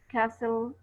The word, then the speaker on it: castle: Just like listen, fasten, castle, hustle, and whistle. They are T is silent.